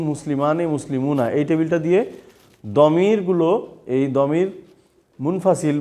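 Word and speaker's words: ضمير: বাট এলির নাম হলো আসলে দামির বলে শব্দ হলো দামির দোয়া দোয়াত আকার মিম জের মি র দমির আর আমি যদি প্লুরাল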